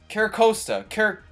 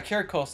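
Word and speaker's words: Corsola: his uh freaking nickname Kosta car yeah carosa that's the right way you pronounce it now right here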